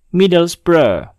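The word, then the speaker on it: Middlesbrough: kata yaitu Lesta Lesta tips yang kelima yaitu cara membaca akhiran borrow atau brow kemungkinan besar ketika melihat tulisan ini kita akan membacanya dengan borrow atau borwaf tetapi ternyata cara baca yang benar adalah Bro Bro contohnya pada kata berikut ini data ini tidaklah dibaca middle xbro tetapi dibaca dengan middle spray middle spray tips yang keenam adalah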